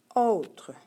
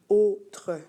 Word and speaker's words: autres: exceptions donc au tour autres autres attention on ne prononce pas vraiment autres c'est vraiment autre d'accord le mal encore